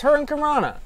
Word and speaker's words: Hurricanrana: I do say it right. It's Hurricanrana. Or Hurricanrana. That's what it is.